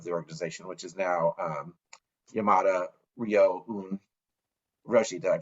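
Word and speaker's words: Yamada Ryōun Roshi: the abbot of the organization, which is now Yamada Ryoun Roshi. Did I pronounce that right?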